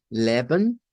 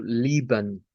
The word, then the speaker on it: Leben: recordar para mí que no tengo que decir esto como Leben, aunque esté haciendo el Shba, sino que tengo que decirlo como Lieben o como Liven.